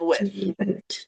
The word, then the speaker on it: with: Stick out your tongue for that one. With. Or pretend you're from Spain if you speak Spanish.